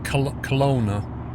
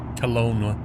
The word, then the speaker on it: Kelowna: It sounded like Cologne, but it's not spelled like that. Flopsy Doodle, you don't mean the old Hong Kong runway, the Kai Tak, do you? That's it, Kelowna.